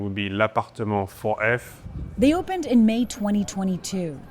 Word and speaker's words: L'Appartement 4F: The official pronunciation would be l'appartement 4F.